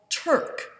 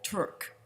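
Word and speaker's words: Türk: was by Daniel Gottlob TURK. Now, if you know German, TURK is spelled with an umlaut over the U. That's 2 dots that go over the U. T, umlaut U, R, K.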